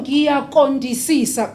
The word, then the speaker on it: Ngiyaqondisisa: So if you're going to say, oh, ngiyaqondisisa, they're going to say, oh, so you really want to be thin. That's what you're saying. So that Q has to be there. Please practice that Q.